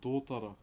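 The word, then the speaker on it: totara: So, the timber that we're carving today, uh, to those that are new, this is called Dora. T O T A R A is how you spell it in my language.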